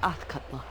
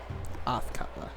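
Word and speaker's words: Athkatla: yes that person was assuredly correct this is autler autler okay now I know how to say it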